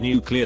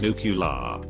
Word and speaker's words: nuclear: are allergic to MSG some people believe the word nuclear to be pronounced as nucular despite the lack of a u vowel between the C and L within the word I just shoehorn that